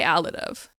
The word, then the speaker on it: Alidove: Oh, I say Alid of. Um, but So, if you're saying, I absolutely accept that.